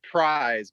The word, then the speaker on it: Pryes: it's pronounced prize, but it's Pryes.